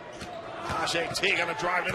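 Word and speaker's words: Tahjai: First name spelled T-A-H-J-A-I, pronounced Tajay.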